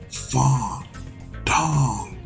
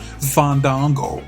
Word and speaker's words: Fandango: Alright, we'll take you on, JDC, or better known as, and you didn't say it, you gotta say it, Fong Dong, go, go, go. That's how you say it. Not Fandango.